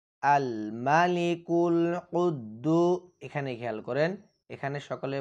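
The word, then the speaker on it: القدوس: ইল্লা আল মালিকুল কুদদু এখানে খেয়াল করেন এখানে সকলে বলবেন কুদ্দু অনেকে বলে কুদ্দু এখানে কিন্তু কুদ্দু হবে না এখানে হবে কুদদু কারণ কফ শব্দটি হচ্ছে কলকলার শব্দ আবার আল মালিকুল কুদ্দুস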